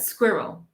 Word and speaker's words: squirrel: difficult to understand but there are two syllables here in the word squirrel okay square square establishments